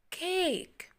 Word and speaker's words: cake: And in the end, the magic E. The magic E make letter A long A sounds. K, we said K, K, and the magic E silent.